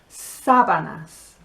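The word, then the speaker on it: sábanas: and this word is sabanas now if you say it without the accent on the first syllable it's going to sound like savannah which is a grassland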